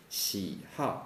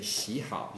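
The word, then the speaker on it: 喜好: okay and also here we pronounce this word with the fourth tone huh see how and we don't and please don't say she hot no it's like take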